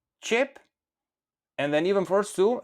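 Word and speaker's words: qepë: Now, remember that the e with two dots at the end of the word in Albanian, normally when we speak it's silent.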